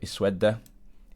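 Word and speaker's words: اسود: So sin, waw and dal, sawada. And the middle letter of the original word is waw, therefore we're going to pronounce this hamza with kasra.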